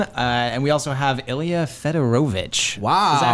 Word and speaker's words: Fedorovich: So we have Joe Vulpis over on the left, Joe everyone, and we also have Ilya Fedorovich. Wow. Is that how you pronounce it? Yeah. was good. Fedorovich.